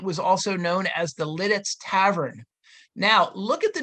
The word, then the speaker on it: Lititz: up until 1880 and the reason they added the second T is because the U.S post Office wanted to make the word sound more like it's spelled okay so that's a